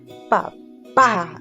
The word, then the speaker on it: papá: vez vuelve escribir pa papá muy bien papá suena fuerte en la última sílaba y le ponemos team